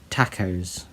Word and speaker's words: TACOS: And he's calling it the Tentacle Arm Kraggle Outside Sprayer, or Tacos. The S is silent.